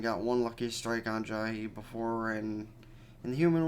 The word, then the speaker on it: Jahy: Also, apparently her name is pronounced Jahy, and as I mentioned before, I used to pronounce it as Jay.